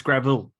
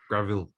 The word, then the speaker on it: Gravill: Yes, I believe we call them Gravill. Gravill, that's right. Gravill. Yes, Gravill. Not. I'm going to go and pave my driveway. I need some gravel. No, it's Gravill. Gravill.